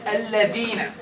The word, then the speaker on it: الذين: when pronouncing the word الذين, the tongue should be between the teeth.